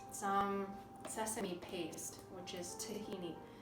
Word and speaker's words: tahini: Okay, and the next thing is some sesame paste, which is tahini. This brand says tahina, but it's tahini. It's just a variation, I believe, in the way they pronounce it.